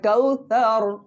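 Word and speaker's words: كوثر: বলি কে কে আসছে কাউসার আসছে জি না এটা আপনি নামের ক্ষেত্রে হয়তো বাংলায় এরকম করে নাউন বলছেন কিন্তু উচ্চারণটা হবে কাউসার নরম জিহ্বার মাথা এই দুই দাঁতের উপরে লাগাই কাউ এরপরে ফাসলি ফাসাল্লিনা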